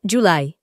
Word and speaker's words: July: La J se pronuncia parecido al sonido de la y, como por ejemplo, julio en inglés se dice July.